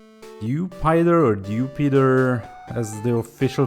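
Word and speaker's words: Dewpider: But then at the same time we have Dupider or Dupider as the official pronunciation apparently is for it and Araquinid which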